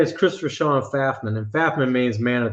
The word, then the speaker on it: Pfaffman: the P silent and he confirmed yes the p is silent it's fafan like your K yeah